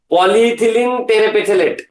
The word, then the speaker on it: polyethylene terephthalate: How to pronounce? Polyethylene terephthalate.